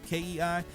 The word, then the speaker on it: kei: familiar with visual okay i think it's pronounced kei then you might have some